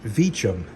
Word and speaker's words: Vicem: It's pronounced Vicem, but it's spelled V-I-C-E-M.